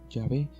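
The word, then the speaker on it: Yahvé: consonantes h wv h que los judíos pronunciaban así y en castellano se escribe la pronunciación llave es sin duda en la pronunciación más correcta del hebreo original para indicar adiós como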